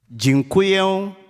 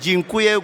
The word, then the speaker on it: dziękuję: Now you know how to pronounce it in Polish. You know? Okay. Dziękuję, gratulacje. Please do it. Yes, do it, a shake, a strong handshake. And dziękuję, gratulacje.